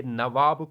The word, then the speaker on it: नवाब: इसमें जो टर्म आई हुई है नबूब्स की टर्म, ये जो कंपनी ऑफिशियल्स थी ये नवाब को सही तरह से प्रोनाउंस नहीं कर पाते थे। इन प्लेस ऑफ नवाब ये नबूब्स की टर्म इस्तेमाल करते थे, इसलिए यहाँ पर हेडलाइन